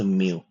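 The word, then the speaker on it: μ: इसका उच्चारण होगा म का। ठीक है? जैसे कि मदर में जो म आता है, एम आता है वो है म्यू का उच्चारण।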